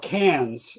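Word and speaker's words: Cairns: But, uh, it's called Canes, spelled C A I R Ns.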